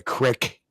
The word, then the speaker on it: creek: Just like we don't call it a creek, we call it a crick.